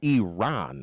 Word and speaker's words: Iran: And I believe it's Iran, like R-O-N, right? Like, it's not spelled that way, but pronounced Iran, not Iran. As in an A-H-N, on. Iran.